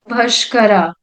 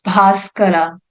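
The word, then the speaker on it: Bhaskara: a group of persons bashara bashara refers to this sorry it's bascara sorry my pronunciation is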